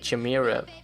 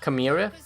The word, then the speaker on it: Chimera: there is a cut I was pronouncing it wrong because I think I said Jumeirah and he is a chimera chimera is how you pronounce it I'm not sure